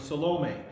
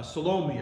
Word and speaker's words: Salome: together to know that her name was salome i don't know if i'm pronouncing that right you know my italian heritage makes me want to call her salami amen but anyway uh salome i believe is how you pronounce her name not a whole lot